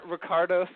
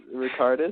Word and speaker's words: Ricardus: Was it like Ricardos Alpert? Yeah, that was Ricardus. Ricardus? Ricardus, that's it.